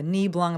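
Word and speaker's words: Nebelung: He's a Niblung, I believe that's how you pronounce it when they have long hair.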